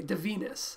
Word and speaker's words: Divinus: s craigsl forbidden surgeries of the hideous doctor de venus that is the correct pronunciation by the way de venus i found an audio clip of zeller saying